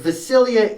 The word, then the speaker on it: Vasilija: european a little bit vasilia is spelled kind of the way you would assume it's spelt it's v-a-s-i-l-i-j-i-a sorry sorry no v-a-s-i-l-i-j-a so the j is silent oh there's no j-i-a i've been writing your name for two and a half years and it was j-i-a because yeah first it's okay but j in serbia is pronounced as y so it's a y sound too bad we don't